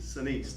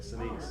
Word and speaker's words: Sinise: Sinise, that's how you say it, Sinise.